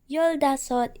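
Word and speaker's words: 열다섯: that is the number 40 in korean yolda sod is number 15 in korean say it with me yolda that's the number 15 in korean next is the number 16.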